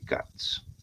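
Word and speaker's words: Katz: determinar el índice de cats. CATS se escribe K A T Z.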